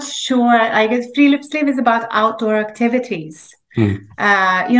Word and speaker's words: friluftsliv: Norwegian word, I don't know if I can pronounce them correctly, so please correct me if I'm mistaken. So it's Friluftsliv. Yeah, Friluftsliv.